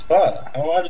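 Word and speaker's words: phở: It's pho.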